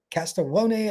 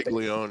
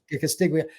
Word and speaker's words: Castiglione: For those that do not know, the AD, is it Castellone? I can't remember how you say his name. Castiglione, yeah. Castiglione.